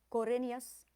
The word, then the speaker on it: Corinius: Corinius rhymes with Flaminius.